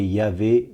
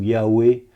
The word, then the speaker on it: YHWH: Yod e vav e lequel est prononcé Yahé ou Yahoué selon que vous utilisez l'hébreu ancien ou moderne et la clé qui